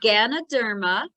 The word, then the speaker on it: Ganoderma: of that last mushroom one more time or spell it out for us uh the polyport the ri yes um it is Ganoderma g a n o d e r m